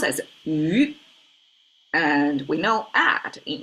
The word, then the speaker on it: 于: This, one of the meanings is at, pronounced as yu.